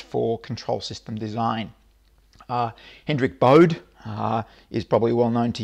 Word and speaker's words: Bode: Hendrik Bode is probably well known to you from the Bode plot. Sometimes it's pronounced Bode plot.